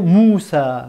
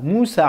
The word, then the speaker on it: Moussa: Un autre mot, un dernier mot, c'est le prénom Moussa. Moussa alayhi salam, c'est Moïse, d'accord?